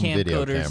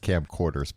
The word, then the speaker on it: camcorders: You know, it was that advent of uh people had camp coders in their in their in their home. Uh it's pronounced camcorders, by the way. What did I say? Camp coders.